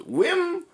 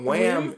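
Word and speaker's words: Wim: him I'm like oh his name is not Wham it's whim whim whim Neil KB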